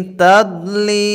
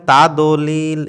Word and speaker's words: تضليل: ألم يجعل كيده في تضليل؟ ألم يجعل كيدهم في تضليل। এখানে অনেকে পড়ে তাদলিল, এরকম তাদ বললে দালের উচ্চারণ হয়, এখানে দদ আছে, তাদলিল।